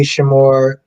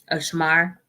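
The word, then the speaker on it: Shemar: Yeah, no, it was good to see Shamor. Shamor, is that how you pronounce his name? Shamor. I mean, Shamar, oh, Shamar Moore.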